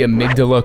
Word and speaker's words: Amygdala: I think makes the amygdala cool in chalice dungeons and yes that is how you correctly pronounce that by the way is